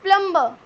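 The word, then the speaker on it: plumber: Prince नहीं करने वाले हैं next one इज प्लंबर प्लंबर बोलते हैं आप इसको प्लंबर लेकिन यहां पर आपका क्या साइलेंट रहेगा आपका भी साइलेंट रहेगा इस प्लंबर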